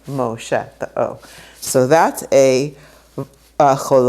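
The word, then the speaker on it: משה: a homage will say Moshe so you'll have a mem with this oh right there and you pronounce the O and that's how you get Moshe oh so that a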